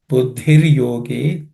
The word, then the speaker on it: बुद्धिर्योगे: Buddhir yoge, again iddhi, dha is second letter in the iddha is aspirated.